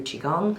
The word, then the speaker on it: Qigong: You know, I do I do qigong every morning. It's Can you say that again? Qigong. Can you spell that?